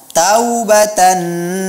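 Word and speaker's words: تَوْبَةً: Pada saat membaca taubatan nasuha, Ustaz mendengar Riza tidak membacanya dengan mad layyin. Tubu ilallahi taubatan nasuha. Taubatan, seharusnya dia dibaca dengan mad layyin.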